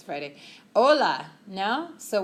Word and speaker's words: hola: it's okay it's Friday hola no so what's the only letter you never pronounce in Spanish H I J is even BC bleh hola we don't say Jolla okay o year it's